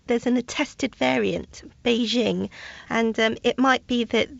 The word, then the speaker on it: Beijing: should it be pronounce our recommendation is actually Beijing that's based on the Mandarin Chinese in fact I've asked one of our colleagues he's actually from Beijing to record the Mandarin Chinese pronunciation Beijing Beijing and this